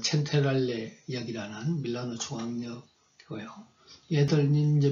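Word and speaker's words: Centrale: 여기는 이제 밀라노 어떤 중앙역, 얘들 발음으로는 첸테랄레 역이라는 밀라노 중앙역이고요.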